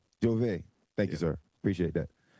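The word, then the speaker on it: J'ouvert: It's pronounced Jove. Jove.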